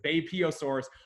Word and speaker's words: Beipiaosaurus: Now that I know how to pronounce it, Beipiaosaurus, way earlier, like 125 mil, whereas the Therizinosaurus is only about 70 million years ago.